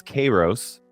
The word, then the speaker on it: Kairos: that means opportune moment although I didn't know how to say it so apparently it's karos is what it is so it should be K Rose time apparently in regular today